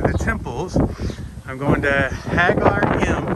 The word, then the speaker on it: Ħaġar Qim: temples i'm going to hag our gym they don't pronounce the queue and it's 100 meters